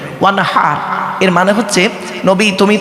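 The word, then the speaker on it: وانحر: এই গলার ভেতর থেকে এটা উচ্চারণ করবেন, ওয়ানহার।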